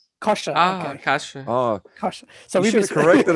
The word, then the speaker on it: Kosha: your name correctly yes it's a weird one it's kosher kosher oh gosh somebody just